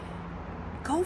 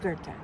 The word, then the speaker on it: Goethe: Some people think it's go, but it's it's pronounced Gerta.